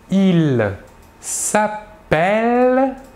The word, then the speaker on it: s'appelle: En effet, le E suivi de double L se prononce est, alors que le E suivi d'un seul L se prononce E.